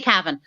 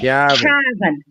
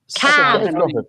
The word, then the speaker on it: Cavan: We don't say Cavan. We say Cavan. Like what cattle do. Cavan.